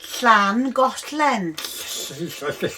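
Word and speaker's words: Llangollen: the one yeah yeah make sure you say it properly because she's welsh slan got len it doesn't matter it's only i only know because i'm welsh just have a mouthful of spit and you'll be okay anyway that's to look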